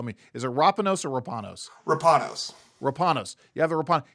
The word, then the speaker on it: Rapanos: Rapanos case, and I always butcher how to pronounce that. You're going to tell me, is it Rapanos or Rapanos?